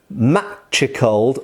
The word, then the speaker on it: machicolation: with the fact that because of that letter t in there it is very clearly matchy cold or matriculation so in